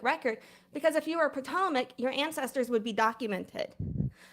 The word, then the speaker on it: Patawomeck: Like it's Patawomeck. You do not know how to pronounce the tribe name right.